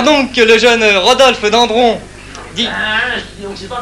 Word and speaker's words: Dendron: Tout récemment encore, on a découvert chez Roger Dandron, dont... Voilà, c'est d'un, hein? Oui, ça c'est écrit dans, mais on prononce d'un, hein? C'est pas grave, mais il faut le faire bien.